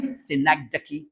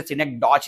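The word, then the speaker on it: synecdoche: सा है मेरे भाई, सिनेक्डकी। इसे बोलते हैं सिनेक्डकी। बहुत सारे टीचर सिनेक्डॉच ऐसा कुछ बोलते हैं, लेकिन उसका प्रॉपर प्रोनाउंसिएशन यही होता है, दैट्स नोन एज सिनेक्डकी। इसे सिनेक्डकी बोला जाता है।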